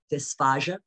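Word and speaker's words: dysphasia: of medical terms can look alike and sound alike there's dysphagia and dysphagia d-y-s-p-h-a-g-i-a dysphagia difficulty swallowing d-y-s um p-h-a-s-i-a dysphagia difficulty speaking so but they they look alike they sound alike some people pronounce them the same way dysphagia dysphagia i like pronouncing them a little differently so that it can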